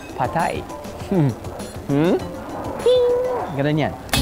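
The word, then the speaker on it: pad thai: Yan yung dating iniisip natin pad thie. Apparently it's pronounced as patay.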